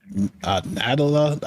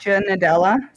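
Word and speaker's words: Nadella: says Microsoft revealed that a CEO sat Satya natala I guess that's how you say it sat SAA natala nadela yeah something like that SS like Nutella to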